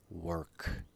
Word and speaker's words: work: sounds like talk versus work sounds like okay were you were there plus k work walk versus work next